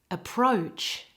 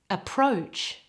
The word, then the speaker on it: approach: It's important to get the vowel right. The vowel is O. It has two mouth positions. Can you see? O. Make sure you get the O and the U, which is a little bit like the position for W. O. Approach. Copy me.